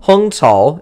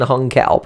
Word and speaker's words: Hung Cao: So, Hung Tsao is his name, basically. I'm not pronouncing that exactly correctly, but it's closer than Hung Cao, but that's what you hear him called.